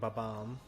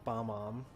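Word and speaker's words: Bob-omb: I'm not going to pronounce it King Babam. Everyone I knew growing up has always called it Bomb-Om. And I've never heard anyone from Nintendo say Babam.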